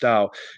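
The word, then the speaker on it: 道: While Shou is pronounced Shou and Dao is pronounced Dao, they share similar vowel sounds, and their pronunciations were closer in historical forms of Chinese.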